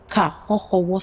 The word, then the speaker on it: Kaxoxowo: Kahohowo Salon. Okay, viewers, Kahohowo Salon. Kahohowo is spelled Kaxoxowo. There's emphasis on the XO.